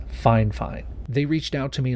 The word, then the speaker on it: FIFINE: and yes i know you've probably heard people pronounce the name of this company as fi fine but according to them it's fine fine they reached out to